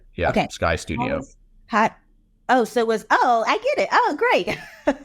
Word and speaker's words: Skydeo: So how does Skydeo, am I pronouncing the company name right? That's right. Yeah. Okay. Skydeo.